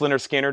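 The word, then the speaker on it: Lynyrd Skynyrd: Otis ratings $ 59.99 linard Skinner pronounced ler Skinner analog production $64.99 fog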